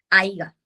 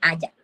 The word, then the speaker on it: haya: Un ejemplo es ejemplo como no hay que decir haiga en vez de decir haya.